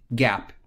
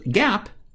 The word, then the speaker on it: GAAP: should follow in preparing financial statements is called gaap generally accepted accounting principle it's pronounced like the gaap store so gaap they will tell the companies how to measure